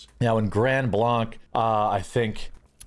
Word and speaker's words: Grand Blanc: Now, in Grand Blanc, uh I think we call it Grand Blank. Uh is how you say it.